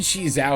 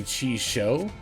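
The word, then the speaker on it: Chixiao: I think Chizao is actually technically Chi Shou.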